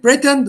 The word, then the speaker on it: pretend: For example, the first one is it pretend or pretend? Pretend. Pretend. Pretend. Pretend. So the stress here lies on the second syllable.